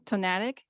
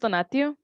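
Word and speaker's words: Tonatiuh: All right, next, not sure how to pronounce the first name, Tonatic from Fly. It's pronounced Donatio, but you can call me.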